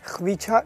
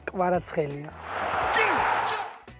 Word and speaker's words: Kvaratskhelia: Questo è il momento perfetto per dire a tutta l'Italia, a tutti i tifosi del Napoli, come si pronuncia il tuo nome. Kvaratskhelia. Kvaratskhelia.